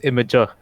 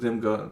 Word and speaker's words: Imgur: It is Imager. It is pronounced Imager. I always sorry. pronounced it Imgur. Man, No, you just fixed The founder says it's Imager.